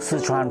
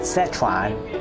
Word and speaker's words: 四川: Xiàngzi, located in Chengdu, Sichuan province. This is part number 3. By the way, the correct pronunciation is not Sichuan, but Sichuan.